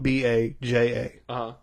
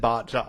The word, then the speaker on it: Baja: But Baja Blast is spelled B-A-J-A. If you're white, you're going to be like Baja Blast, right? Yes. Not Baja.